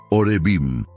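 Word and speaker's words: עורבים: En hebreo, el idioma original del Antiguo Testamento, la palabra que se traduce como cuervos es orbillim, que se pronuncia orevim.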